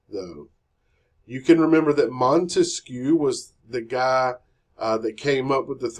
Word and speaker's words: Montesquieu: Montesquieu. He has 3 syllables in his name.